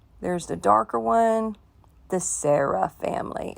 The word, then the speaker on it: Sara: the darker one the sarah family it's pronounced like sarah like my daughter s-a-r-a or some people spell